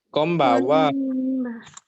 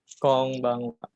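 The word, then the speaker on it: こんばんは: Bukan kombawa ya. Yang betul itu konbanwa. Konbanwa. Tadi kurang huruf N ya di ban. Huruf N-nya ini dibaca ang ya. Kom yang huruf N pertama itu dibacanya M.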